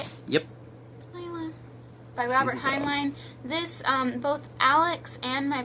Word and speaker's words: Heinlein: By Robert Heinlein.